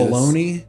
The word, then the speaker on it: bologna: I think I've told you baloney. Baloney. It's Bologna. Yeah, that's true. It's a dumbass fucking way to spell it.